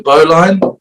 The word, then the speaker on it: bowline: knot okay now we're moving on to the bowline or bowlin depending on how you want to pronounce it it's often referred to as the